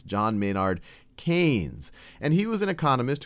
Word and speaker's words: Keynes: picture of john maynard keynes and i often mispronounce him as keynes because that's how it's spelled but it's john maynard keynes and he was an economist who did a